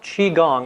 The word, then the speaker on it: Qigong: can pronounce it several ways it's yes it's pronounced Qi Gong it's spelled different ways there's not a universal